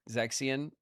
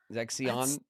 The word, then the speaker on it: Zexion: Zexian. Zexion. Zaxian.